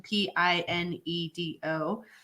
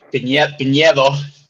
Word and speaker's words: Piñedo: So, and his last name Pinedo, which I am not good at pronouncing, but can pronounce his last name for you. Yep. Piñedo. There you go.